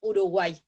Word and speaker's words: Uruguay: que es la pronunciación no lo nombramos como uruguay sino que decimos uruguay como si fuera una i común si una y latina común se entiende entonces uruguay